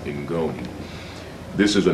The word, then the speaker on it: Ngoni: That comes from Malawi and the language is pronounced Ingoni.